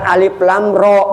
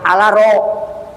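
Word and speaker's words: الر: Yang membaca alif lam ro bacanya alaro.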